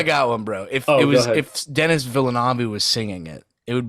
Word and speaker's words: Villeneuve: And like, his last name is not Villeneuve or Villeneuve. It's Villeneuve.